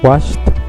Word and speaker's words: washed: ver, es un sonido, la E es muda en la mayoría de los casos y nada más se pronuncia la D o la D o la K al final, ¿no? Como en washed, en cooked, esa suena como T, y played, la D solita.